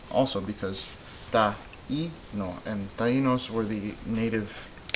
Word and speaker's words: Taíno: Taíno. Taíno. You should hear 3 also because taíno.